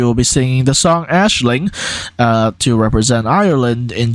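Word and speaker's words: Aisling: mcken with the song Ashling I've been told that's how you pronounce it because that's Irish and not English mcken was selected through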